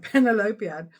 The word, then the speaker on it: Penelopiad: Penelopiad.